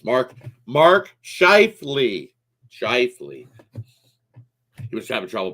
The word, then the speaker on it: Scheifele: Scheifele, that's it. See, Mark Scheifele. I knew that. It's Mark Scheifele.